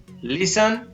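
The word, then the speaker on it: listen: शब्द के बाद अंत में STLE या STEN हो तो टी साइलेंट रहता है। इन शब्दों को यहां पर पढ़ेंगे, हसल, बसल, आप भी मेरे साथ बोलते रहें, बसल, नेसल, विशन, वेरी गुड, आसन, हैसन, लिसन, सन और मोइसन, इस तरीके से इनको पढ़ते हैं।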